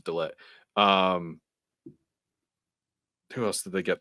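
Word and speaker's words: De Ligt: They got Delit. I'm gonna finally say it right, guys. It was Delit.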